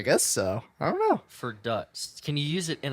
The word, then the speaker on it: verdutzt: Let me double check just so I make sure I pronounce this right. All right. Verdutzt. Verdutzt.